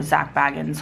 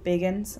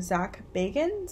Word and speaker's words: Zak Bagans: bit about zak bagans Biggins I'm sorry I keep saying wrong zak bagans I think is how you say I wanted to talk